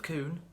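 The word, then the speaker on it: Khun: We have a guy called Coon, and no, that's not racist, because it's not spelt C-O-O-N, it's spelt K-H-U-N.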